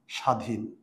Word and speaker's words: স্বাধীন: আর অন্তস্থ ব হচ্ছে আমি যদি এখন বলি স্বাধীন কিংবা আমি যদি বলি সাত এখানে ব আছে কিন্তু ব এর উচ্চারণ হয় না যদি ব এর উচ্চারণ